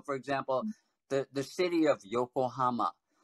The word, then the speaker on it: Yokohama: So for example, the city of Yokohama, a lot of Americans will say they'll put the accent on the ha, and so the ko will become ka. So it'd be Yokohama or Minami Rinkan, Minami Rinkin.